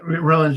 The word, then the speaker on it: Raelians: Yeah, Raelians, how you pronounce it, yeah.